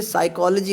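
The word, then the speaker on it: psychology: जैसे साइकोलॉजी होता है, साइकोलॉजी की स्पेलिंग P से शुरू होती है, उसको कहते हैं P साइलेंट है इसका।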